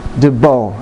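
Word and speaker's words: 도복: That is a properly tied debo, as it's called in Taekwondo. Debo, D-O-B-O-K, debo. The K is silent.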